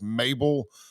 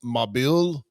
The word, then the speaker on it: Mabil: It looks like it's Mabel, but I think it's pronounced Mabil.